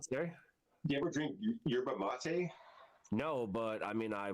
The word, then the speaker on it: yerba mate: stuff type in yeah it's yabba maba or what is it it's called yerba mate yeah i butchered that yerba mate type in yerba mate